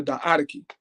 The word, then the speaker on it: Diadochi: Okay, some people said Diadochi, but it's pronounced the Diadochi, meaning the wars of the successors.